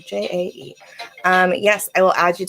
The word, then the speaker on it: Jae: I like how it's spelled. Jae.